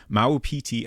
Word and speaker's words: Maupiti: Uh so presumably is correct on the pronunciation. Maueti Island.